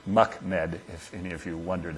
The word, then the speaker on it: MUCMD: use of complex medical data which is is pronounced mckm if any of you wondered how to say